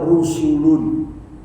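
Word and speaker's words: رُسُل: Di sini menggunakan kata rusulun. Bagi yang pernah belajar bahasa Arab, dalam satu kata ada yang dibuang satu huruf saja, itu maknanya jadi berbeda. Rasulun itu satu utusan malaikat, dibuang wawunya, bacanya apa? Rusulun.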